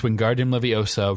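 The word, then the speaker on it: Wingardium Leviosa: Yes, it's Wardian Leviosa.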